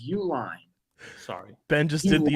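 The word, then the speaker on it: Uihlein: Matt wolf and Peter Ulan and gave away you Jesus Christ he's been around forever say his name right it's Uline sorry Ben just did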